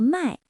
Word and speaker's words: 卖: 的例子，买和卖，拼音一样，都是卖，但声调不同，意思完全相反。